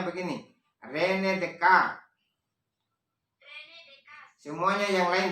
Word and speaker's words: René Descartes: Bacanya begini. René Descartes.